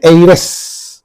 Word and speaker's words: heiress: Okay, and heiress. Okay, in this also is silent. We are pronouncing the word from this E. E is giving a vowel sound, and therefore we think